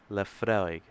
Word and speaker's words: Laphroaig: imagining love forage evening how do you pronounce that the freud evening in canada laphroaig la fraig anyway so here we